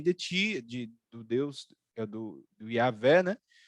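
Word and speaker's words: Yahweh: ti, do Deus, do Yahvé, né? Yahué, que é a expressão mais correta, a pronúncia mais correta, e outro livro dizendo, não, pode adorar Baal, pode adorar os Baalins, pode fazer o que...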